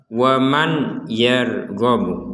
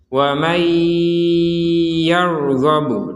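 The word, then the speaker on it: ومن يرغب: Contoh kalau dibaca dengan jelas, waman yarghabu, waman ya, man ya itu dibaca dengan jelas. Maka dari yang jelas ini kita masukkan nun sukun ini kepada huruf ya sehingga terbacanya langsung wa mayya seperti itu dan disertai dengungan sehingga menjadi wa mayyarghabu dan seterusnya. Jadi wa mayya ada dengungan di rongga hidung kita itu.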